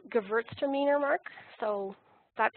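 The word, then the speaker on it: Gewürztraminer: those varietals that are white wines and it's pronounced Gewurztraminer look so that's how you pronounce my favorite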